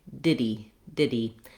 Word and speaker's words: did he: In American English, we're not going to make a break there, and we're actually going to leave that H sound off. So rather than did he go, did he talk to you, or just did he, we tend to say diddy.